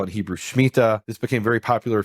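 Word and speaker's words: שמיטה: and this is what we call it Hebrew shmita this became very popular a few years ago in the u.s. under the mispronunciation shemitah but it's mita which is also called the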